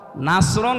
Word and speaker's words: নাসরুন: এই সূরাটা পড়তে গিয়ে সওয়াদ না বলে সিন দিয়ে উচ্চারণ করেন আপনার কিন্তু নামাজ হবে না কারণ নামাজ ভাঙ্গার কারণ